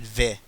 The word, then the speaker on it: Vi: Guys, I didn't say vi or ve. I said vi, like short I. V, ve. So it rhymes with like this first syllable of Syndra.